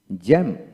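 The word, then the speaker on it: jamb: না ক্লাইম্ব তারপর আসেন জে এম বি জ্যাম জ্যাম বি হবে না তারপর আসেন এল এ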